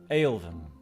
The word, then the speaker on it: Aelvim: Annalise, Aelvim. First of all, did I say their name right? Yes. Okay. Yes, you did. All right. we're going with the Tolkien pronunciation.